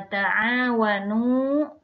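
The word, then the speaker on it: تعاونوا: Nah, kita lihat cara membacanya di sini wa ta'awanu. Di sini ada dua ketukan ya pembacaannya, a dan nu panjang dua ketukan.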